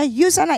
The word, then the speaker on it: USANA: instagram at yusana Indonesia tulisannya usah nah ya kami membacanya yusana Indonesia gitu kemudian yusana